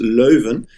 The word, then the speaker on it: Leuven: In fact, the Dutch pronunciation, and we are in Flanders, so they do speak Dutch here, is Leuven, but I won't blame you for that one.